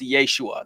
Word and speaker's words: Yeshua: you who don't know Jesus's name in Aramaic would have been pronounced Yeshua that's what his friends